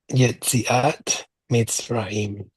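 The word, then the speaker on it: יציאת מצרים: Yetziat Mitzrayim. Okay, you got it. You got it. So the accent we're going to put on the middle syllable of Misrayim.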